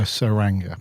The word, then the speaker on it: Tsuranga: man the saranga conundrum with a silent te with the silent T we were unsure on the T or the S weren't we yeah we weren't sure how to pronounce it were we what is it t Tang tangra yeah I didn't know if it was the turanga or the suranga but we got it